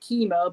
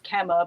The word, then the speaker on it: Kemmer: peter kemmer uh he for the longest time i pronounced it chemo but it turns out it's it's kemah but anyway he disappeared